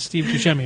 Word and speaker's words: Buscemi: It's pronounced Buscemi.